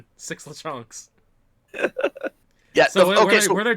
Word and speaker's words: Lechonk: You have to say it like that. Lechonk.